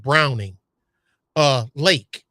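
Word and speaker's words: Braunig Lake: Now, it's not spelled the way it sounds, but it's pronounced Browning Lake.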